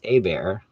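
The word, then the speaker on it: Hébert: r's it's herbert but if you take out the first r it's a bear so there you go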